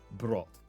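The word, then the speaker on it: Brot: Brought. Okay. It's not bread, it's brought.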